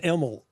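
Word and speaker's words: Imel: It's pronounced Emel. I-M-E-L. Emel.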